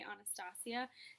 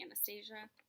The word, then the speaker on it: Anastasia: I say Anastasia. Some people say Anastasia. I say Anastasia.